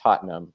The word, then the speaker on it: Tottenham: It's It's pronounced Tottenham.